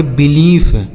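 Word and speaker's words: belief: बी ई एल आई ई एफ। इसे पढ़ेंगे बिलीफ। क्या पढ़ा जाएगा? बिलीफ। ठीक है बच्चों? बिलीफ।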